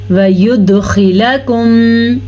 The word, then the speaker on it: وَيُدْخِلَكُمْ: عنکم سیئاتکم وَيُدْخِلَكُمْ، وَيُد دال پہ کلکلا، جیسے میں نے پڑھا ہے اسے کلکلا کہتے ہیں، جھٹکے کے ساتھ پڑھنا.